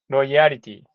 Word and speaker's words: loyalty: loyalty, no, Loyalty, loyalty, loyalty. Loyalty was a critical. loyalty. Mhm. Loyalty. Yeah, Thank you. sound it rhymes with royalty, but with an L.